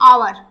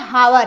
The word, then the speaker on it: hour: जैसे मान लीजिए हम पढ़ते हैं आवर, आवर की स्पेलिंग क्या होती है? तो HOUR पढ़ते हैं आवर, लेकिन होता क्या है? हावर, एच इसमें क्या कर देंगे? साइलेंट है।